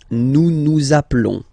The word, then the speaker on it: nous nous appelons: Nous nous appelons. Nous nous appelons. Okay, final s doesn't exist. Nous nous appelons.